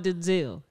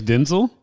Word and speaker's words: Denzel: denzo Washington's son cuz it's not Denzil I his name is Denzel I heard I've learned